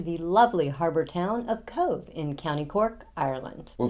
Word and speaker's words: Cobh: It is not Cobb. It is pronounced Cove.